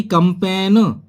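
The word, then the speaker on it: campaign: जैसे कि कंपेन, कंपेन एन से पहले जी यानी कि बोला जाएगा कंपेन, जिसे अभियान बोलते हैं,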